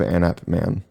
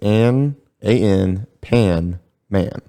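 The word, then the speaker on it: Anpanman: was they've heard of anap man or anne panman i think you're saying it wrong you're offending a lot of people it's ann a-n pan man i'm pronouncing it sure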